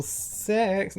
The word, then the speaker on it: CeX: Local sex, yeah. I think that's how it's actually a CEX. I think that's actually like the proper pronunciation. That's how they pronounce it on adverts.